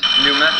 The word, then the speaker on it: pneumatic: Pterodactyl, psalm, and pneumatic. London, Davis. They begin with P, which is not some. They all begin with an unpronounced P, Edinburgh, correct.